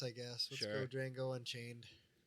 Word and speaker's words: Django: go Django Unchained. Django. So The D is silent.